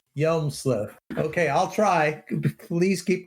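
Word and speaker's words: Hjelmslev: going to have to tell me how to pronounce this name it's joe jomesslav yelmusliv yelmsliff yelmsliff okay i'll try please keep correcting me okay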